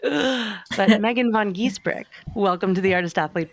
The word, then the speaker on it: Giesbrecht: your full name for me so I don't pronounce it incorrectly? Yes. My full name is Megan Vaughan Giesbrecht.